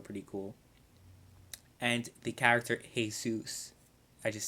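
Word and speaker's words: Jesús: know why I said hey Zeus I'm is just like it like something I'm accustomed to someone's name is jesus i call him hey soos cuz that's how you're supposed to pronounce it anyway I'm sorry guys for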